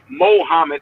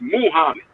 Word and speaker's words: Muhammad: hear a white person they'll say mohammed ali with a m.o but his name is muhammad it's mu it's muhammad ali that's the proper way to say it but they'll say mohammed